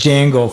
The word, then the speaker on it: Django: It's like same as Django for people that have issues pronouncing it. So what you have in DJ in my name or Django's name it's pronounced J.